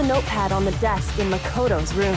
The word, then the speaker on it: Makoto: rooms for a sing can you not say Makoto with a t can you say it like normal so Makoto did you write this